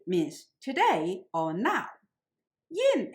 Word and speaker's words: 饮: Yin here pronounced in the fourth tone rather than the usual third tone, meaning to water a cattle or a horse.